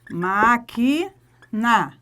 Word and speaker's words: máquina: fé oxítona beleza é máquina máquina qual é a sílaba mais forte é a antepenúltima proparoxítona apesar não está falando